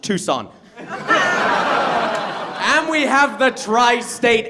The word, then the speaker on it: Tucson: And I say it's actually pronounced Tucson.